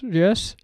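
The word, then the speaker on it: Jers: Is that how you pronounce him actually? Yeah. Sorry? Yes. Jesch.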